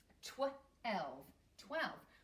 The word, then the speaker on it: twelve: and two little ones twelve we can sound the first part out and we have a silent e at the end twelve we need a special e at the very end well done okay after 12 comes 13.